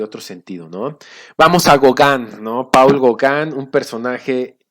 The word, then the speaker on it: Gauguin: Los tres exponentes más reconocidos en la historia es Gauguin, se escribe Gauguin, se pronuncia Gauguin, Toulouse, Henry Toulouse-Lautrec, se escribe, pero es Lautrec, no me sale el acento francés, y Van Gogh, ¿no?